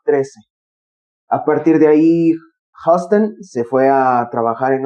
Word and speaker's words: Huston: Lo escribe Charlie Huston, o Houston, que dudo mucho que se escriba Houston porque no tiene la O. No, sería, yo creo que lo más cercano a una pronunciación correcta sería Charlie Huston.